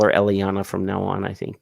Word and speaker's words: Eliana: A lot of people struggle to say Eliana, but it's just Eliana as is you pronounce it with the Latin language, because Eliana, my origin name, or how I originated from Colombia.